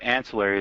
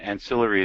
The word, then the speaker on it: ancillary: looked it up and it turns out ancillary is the American pronunciation ancillary is British so if you want